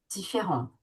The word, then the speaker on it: différente: Si on va prononcer le T différente différente. OK.